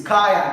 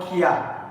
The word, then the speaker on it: Kaya: It's Kaya, no more Kia.